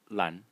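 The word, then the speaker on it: 闌: element in it, and it is pronounced lan. And so, as you can see clearly, lan and lan, so lan, the pronunciation of the blue element, and lan, the pronunciation of the character as a whole, are very similar.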